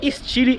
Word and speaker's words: Stile: visual do 208 Stile Lembrando que a própria Peugeot diz que é estile e não Style como